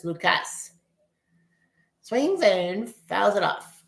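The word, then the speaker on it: Lukes: I know it's it's spelled like L U ke like Luke's, but it's Lucas.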